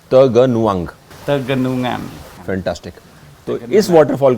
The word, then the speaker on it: Tegenungan: How do you pronounce the name of this waterfall? Tegenungan Waterfall. Slowly once again! Tege...nun...gan! Tegenungan.